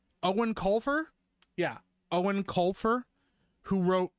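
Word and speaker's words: Eoin Colfer: Let me see how you pronounce this guy's name. Owen Colfer?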